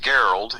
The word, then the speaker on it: Gerald: It's like Gerald, only it's pronounced Geralt.